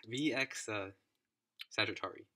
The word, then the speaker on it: VX Sagittarii: Okay, VX Sagittarii. Okay, that's how you pronounce it.